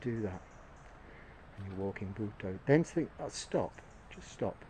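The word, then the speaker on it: Buddho: And it's said like two syllables, Bhutto. It's spelt with a D at the end and a D at the beginning, but the second D is pronounced to.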